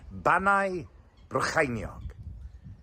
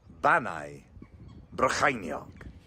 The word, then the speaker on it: Bannau Brycheiniog: IAN: Bannau Brycheiniog. That sounds quite good. Let's cross to our Welsh correspondent. The correct pronunciation is Bannau Brycheiniog. Bannau Brycheiniog.